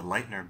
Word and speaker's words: Leitner: The first is the lightener box. And let me spell that.